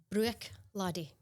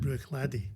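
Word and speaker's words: Bruichladdich: and think is called Bru Ladi. Yeah. Ladi. Bruy. That's the correct pronunciation. Bruy because people say Glenfid, don't they? Yeah. But Bruy. So the ch at the end of that silent brladi and I think again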